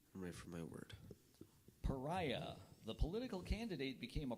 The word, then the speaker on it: pariah: m authoritarianism correct I'm ready for my word Pariah the political candidate became a pariah to his party and many members refused to be seen with him pariah definition please it's a person who is an